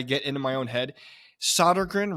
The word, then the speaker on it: Sodergren: into my own head solder grin right or is it sod grin no you're right the first time it's S I mean technically if you're going with the Swedish pronunciation it's sodan but I don't say